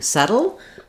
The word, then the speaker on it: settle: a that saddle then when we get to settle letter e says the e sound this is also the the most typical pronunciation for the letter e it's often this vowel e like in R um or said so you could try